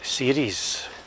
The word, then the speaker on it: Ceres: and San Andres and with regard to the pronunciation of series ask the bus driver hearings as series and but if you look at old maps